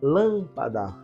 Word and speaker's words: lâmpada: a nossa primeira aula qual é Sil B tônica lâmpada é o lã portanto é uma proparoxitona porque anti penúltima sílaba